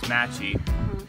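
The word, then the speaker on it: mate: got the first part which is matchy that's just how they they say matte they kind of like chop at those te's um and I got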